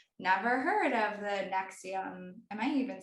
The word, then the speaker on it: NXIVM: like never heard of the NXIVM. Am I even saying it right? Yeah, NXIVM.